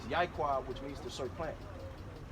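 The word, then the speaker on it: יעקב: You know why they gave you Yakub? Because the covenant was made with our forefathers was Jacob. So the way you say his name in Hebrew is Yaquab, which means to serve plant.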